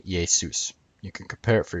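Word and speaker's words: Jesús: Maybe the idea that Jesus means Hail Zeus comes from the Spanish name for Jesus, which is pronounced JeSUS.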